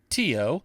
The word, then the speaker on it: tio: Brew space install space too that's spelled Tio for terminal IO like uncle in Spanish and press return and